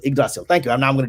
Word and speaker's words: Yggdrasil: Just more emphasis on the Y. Yggdrasil. Could you pronounce it? How would you pronounce it? Yggdrasil. Yggdrasil.